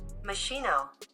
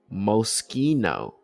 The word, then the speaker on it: Moschino: Common mispronunciations. Moschino, Mosquino. Okay. Mosquino. Uh as you can see here, that's you got Snoop Dogg going to wear some of that in the Olympics. They got some weird teddy bear emblem going. Uh they've been rocking Moschino for the last like 40 years. Uh Again, it's known for playful luxury and cartoon-inspired collections referenced in rap. Mosquino, Mushquino. Still might be pronouncing that wrong.